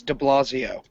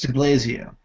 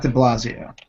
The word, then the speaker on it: de Blasio: know how to pronounce de Blasio it's DiBlasio it's not the Blasio it's Bill de Blasio but it doesn't matter